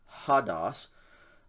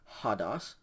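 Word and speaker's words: ὁδός: fourth word is pronounced hadas if you look closely you can see that it has a rough breathing mark over the omicron so you pronounce an h sound before that hadas hadas is an uncommon word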